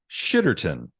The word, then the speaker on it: Shitterton: town in England with the fabulous name of shitterton s-h-i-t-t-e-r-t-o-n shitterton uh and the town of [ __